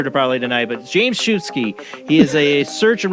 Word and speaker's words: Szubski: out of you because we had problems it's pronounced I have a butcher to probably tonight but James shoesky he is a search and rescue EMT he